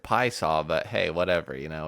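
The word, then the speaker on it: Piasa: here called Pasa Illinois I think they just pronounce it P saww but hey whatever you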